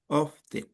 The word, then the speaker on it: often: And it's two syllables. Often.